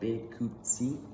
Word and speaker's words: Bikutsi: So this I pretty much put like pronunciation, so it's called Bikutsi.